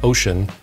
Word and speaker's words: Wouxun: brand new just released wukson pronounced ocean kg 1000g gmrs 50